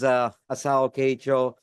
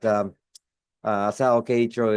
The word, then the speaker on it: Asao Keiichiro: My name is Asao Keiichiro, as we say it in Japanese. This is the last name first and the first name last. But Asao Keiichiro is that's how we pronounce.